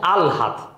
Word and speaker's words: আহ্লাদ: তুমি পরে ল বলবো না, আহ্লাদ, কিন্তু শব্দটা আহ্লাদ না, শব্দ হচ্ছে আলহাদ।